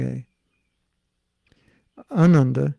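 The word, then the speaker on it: आनन्द: it was just funny ananda bliss with a long a ananda short a without bliss i learned this at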